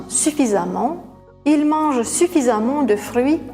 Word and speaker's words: suffisamment: Suffisant, on enlève la terminaison en, on ajoute amant, on prononce amant suffisamment, il mange suffisamment de fruits chaque jour.